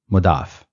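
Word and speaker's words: مضاف: part is called mudaf it is written as mudun but we can pronounce it mudaf so what is mud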